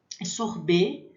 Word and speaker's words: sorbet: Esse T não se pronuncia.